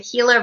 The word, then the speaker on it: Gila: It's spelled with a G, so it looks like Gila River, but it's pronounced Gila River, is right up at the top.